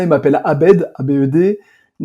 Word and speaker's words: Abed: Je leur ai dit, bah, c'est Abed. Normalement, ça s'écrit A-B-E-D.